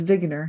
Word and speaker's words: Wigner: um his name is wigner so I'm pronouncing it the German Way it's spelled wigner and